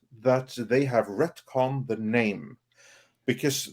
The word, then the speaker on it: Namor: she then explained that they have retcon the name because Neymar is no longer pronounced name or it is now pronounced Nam